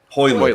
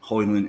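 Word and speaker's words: Højlund: How you pronounce it? Rasmus? I got first names. The Dane. Hoyland.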